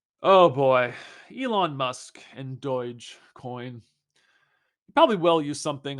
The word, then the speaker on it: Dogecoin: surgeon Deutsche coin pronounced Deutsche coin with a soft G sound also concides with rumors